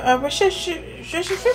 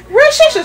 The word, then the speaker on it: Worcestershire: We call it W sauce because we can't pronounce the actual title easily. Yes, we can. It's the Worcestershire sauce. You see what I mean? Worcestershire sauce.